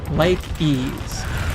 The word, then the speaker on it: Lykies: my pessimism is high lykies is the pronunciation mr davey like ease i was unaware when